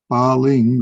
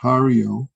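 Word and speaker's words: 巴陵: This, I should say, this Ba Ling, or in Japanese is pronounced Hario.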